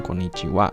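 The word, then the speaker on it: こんにちは: Selamat siang yang diucapkan sebagai wa, namun dieja sebagai ha. Betul sekali. Ini saya sebenarnya sempat menjelaskan ini di pelajaran sebelumnya ya. Seperti partikel wa dalam sebelum subjek itu dibacanya walaupun hiragananya itu ha tapi dibacanya wa.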